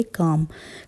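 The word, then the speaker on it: calm: मतलब फ्रेंड्स होता है देखो इसे कैसे प्रोनाउंस करेंगे काम एल यहां पर साइलेंट है सी ए एल एम लेकिन इसे प्रोनाउंस करेंगे काम काम मतलब होता है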